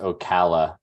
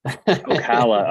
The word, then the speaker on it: Ocala: It's pronounced Ocala. Ocala.